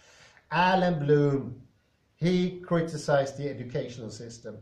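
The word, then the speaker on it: Allan Bloom: right now thank god for that finally correct alan bloom he criticized the educational system it's going down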